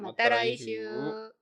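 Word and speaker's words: また来週: 미나상 마타라이슈. 발음이 마타라이슈예요.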